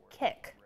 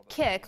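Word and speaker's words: Kik: And his response for us was an app called Kick.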